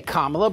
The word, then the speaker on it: Kamala: president they know the right way to say kamla but it's the racist game like calling Obama